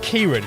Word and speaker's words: Ciaran: but it is Ciaran. I've got, my surname's Irish as well. Which no one can ever pronounce.